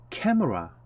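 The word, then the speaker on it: camera: 것은 무엇이니 물어보니까 있었 캠 오라 우리는 카메라 라고 발음 하죠 그런데 영화에서는 k w 와 캠 오라 이렇게 바르며 디 스 캠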